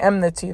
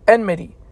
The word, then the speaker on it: enmity: I knew it um because it sounds like enemy you know enmity oh